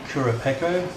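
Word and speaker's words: Kurupeco: here you can see me finding a great kura pekko that's how you say it i'm using pretty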